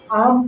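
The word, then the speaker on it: alms: कहेंगे पाल्म नहीं कहेंगे आलम यहां आलम नहीं पढ़ेंगे आम पढ़ेंगे और ये एल का उच्चारण बिल्कुल नहीं होगा आम मतलब होता है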